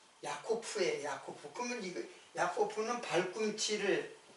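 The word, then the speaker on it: יעקב: 야고보의 이름이 사실 야고프인데 이제 헬라 헬라로 헬라오의 발음으로 하면 이제 야고보라고 이렇게 발음 그 원래는 야코프예요.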